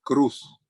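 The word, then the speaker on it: Kroos: escribe kr o s y se lo escuché pronunciar a un locutor alemán y él lo pronuncia lo pronunciaba Cruz entonces es posible que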